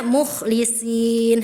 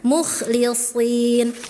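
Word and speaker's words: مُخْلِصِين: Tadi ee ana bacanya mukhlisin harusnya mukhlisin si sh si sh ya shnya tebal naikkan pangkal lidahnya.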